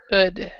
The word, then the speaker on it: could: Venture and then we have once um Alejandro could you read the first one on the the